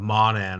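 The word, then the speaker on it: Mawnan: the the all men of monan if i'm pronouncing that correctly you are oh i i am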